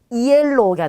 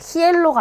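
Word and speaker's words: hielo: 자, 그러면 이 단어를 읽어보시면 이엘로가 되겠죠. 히엘로가 아니겠죠. 얘가 그냥 없다고 생각하시면 돼요.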